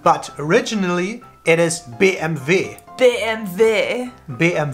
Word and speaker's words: BMW: first one everybody knows it how would you pronounce this one be m/w BMW but originally it is BMV they and their BM v damn there so